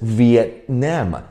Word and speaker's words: Vietnam: ，你听我再念一次 Vietnam，这边的 T 你要停下